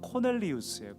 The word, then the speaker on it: 코넬리우스: 그의 이름은 원래 정식 발음대로 하면 코넬리우스예요. 코넬리우스.